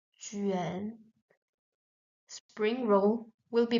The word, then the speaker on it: 卷: This character, which means roll, like the spring roll, is pronounced with the third tone. So, juan, juan.